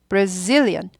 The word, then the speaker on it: Brazilian: 브라질 사람은 banan ban 여기 엑센트 있어요 ban ban brazilian brazilian bra bra bra bra brazilan i brazilan i brazilan i brazilian 이렇게 됩니다 그래서 여기를 따닥따닥 20초